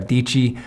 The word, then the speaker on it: Adichie: goes by gary vee sarah adichie always says saradici rhymes with peachy so you can understand